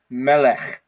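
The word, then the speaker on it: מֶלֶךְ: It's a final form kaf with a silent schwa in it, okay? So that's why we pronounce this word as melech, melech, okay?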